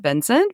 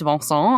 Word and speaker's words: Vincent: I understand that in America we would pronounce it Vincent, but he's French and it's Vincent.